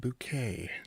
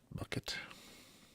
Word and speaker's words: Bucket: It's pronounced bouquet, not bucket.